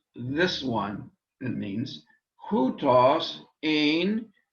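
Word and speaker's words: ἦν: Hutos, this one, it means, hutos ein en arche pros ton theon. And did you notice the difference in pronunciation between ein and en, eta and epsilon?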